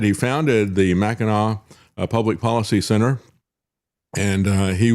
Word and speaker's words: Mackinac: and yet our guest has also founded the Mackinac Center for Public Policy. Did I say that correctly? Yes, you did. Yeah, we were just laughing about that off air because I called it the Mackinac Center.